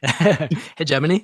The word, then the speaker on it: hegemony: Hegemany.